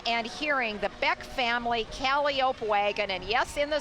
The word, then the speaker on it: calliope: to be seeing and hearing the beck family cali ope wagon and yes in the circus you do pronounce it calliope it was recently acquired by circus world with